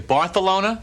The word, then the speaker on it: Barcelona: Do you know the correct pronunciation of Barcelona is actually Bartholona?